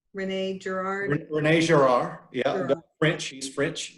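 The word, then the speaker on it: René Girard: Rene Girard, yeah, Girard.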